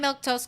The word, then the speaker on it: Milquetoast: Uh, anyway, like I was saying, I'm Milktoast. Let's get the full name in it. That's how you say my name.